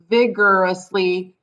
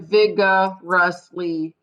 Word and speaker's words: vigorously: consonant so you're right so now it's vigorously and it's almost like there's two r you know you have the r sound at the end of this syllable and then you have the r sound at the beginning of the next syllable so you're right vigorously instead of vigga rustly vigorously because if you think listen to the way i say it i say vigorously it's that er is running together vigorously so it's almost